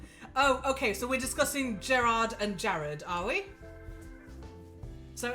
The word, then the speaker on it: Gerard: Oh, okay, so we're discussing Gerard and Jared, are we? So it's Gerard Way and Jared the Bone Turner. It's Gerard.